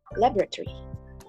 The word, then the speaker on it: laboratory: So it's quite similar, but actually there are distinction in the stress. For example, like in the UK, they tend to use the stress in the second syllable, in the b sound, but in the US, they stress in the first syllable, in the initial of the words.